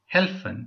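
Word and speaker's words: helfen: okay எனக்கு உதவி செய்ய முடியுமான் சி மியர் ஹில் ஹெல்ப்பன் இல்லாட்டி ஹில்பன் ஹெல்ப்பன் என்றது தான் சரி நான் ஒரு தங்கச்சி ஒரு ஆள்ட்ட கேட்டேன் அவர் சொன்னா இல்ல ஹெல்ப்பன் என்று தான் சொல்லணும் அப்படின்னு சொல்லி ஏனென்றால் அதை சுவிட்சர்லாந்துலே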